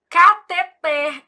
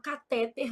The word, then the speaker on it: cateter: Eu falo: Júlia, você não é daquelas médicas que fala catéter, não, né? Porque sua mãe é professora de português. Foi com esse dinheirinho que ela pagou os seus estudos. Então você vai falar catet, ela fica rindo.